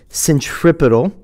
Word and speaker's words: centripetal: And the term is pronounced centripetal acceleration.